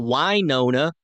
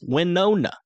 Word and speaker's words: Winona: a Oakley it's Oakley it's not why Nona it's not oh no it's not Wana it's Winona I get it I would